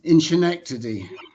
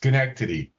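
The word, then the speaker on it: Schenectady: Um Dan Inkity. Yes. Uh and just for knowledge is pronounced skenkity.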